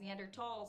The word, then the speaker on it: Neanderthal: isn't a planet anymore Neanderthal is pronounced neander tall so maybe the foundational